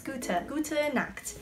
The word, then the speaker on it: gute: But in German, I'm not sure if you do this for everything, but like, so like G-U-T-E, for gut, you have to go gute, not just gut, which as an